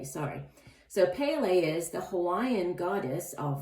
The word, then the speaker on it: Pele: So this goddess, Pele, it's pronounced, no, I'm pronouncing it incorrectly. It's Pele, sorry. So Pele is the Hawaiian goddess of volcanoes.